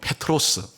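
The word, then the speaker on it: Πέτρος: 반석위에 내 교회를겠다 이래서 베드로라 말은 이제 발음을 제대로 하면 페트로스 어 이런 뜻이고요 반석이란 것은 페트라 이런 단어입니다 그러니까 너는 페트로스 근데이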